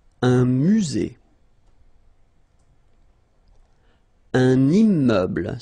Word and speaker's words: immeuble: Un immeuble. So you can see I'm making this little liaison between the two. Un immeuble. Final E, not pronounced.